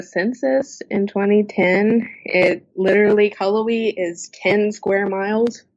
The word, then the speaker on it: Cullowhee: try to pronounce that we always have people either calling it cool way or some variation of that but it's Cullowhee see I would have